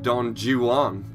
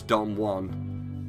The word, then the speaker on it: Don Juan: with with the narrator he couldn't pronounce Don Juan he called him Don jewel on which I'm pretty sure is not I'm pretty sure it's Don Juan but I don't know